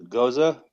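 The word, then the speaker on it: gose: Goza.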